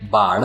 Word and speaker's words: baud: बार्ड, बार्ड, दोनों words के pronunciation same है। पहला जो वर्ड है बार्ड, जिसका स्पेलिंग है BAUD, जिसका मीनिंग होता है बिट्स प्रति सेकंड।